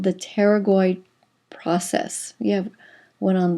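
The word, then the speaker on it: pterygoid: this is called the teroid process you have one on the right and one on the left the teroid the p is silent teroid process remember a process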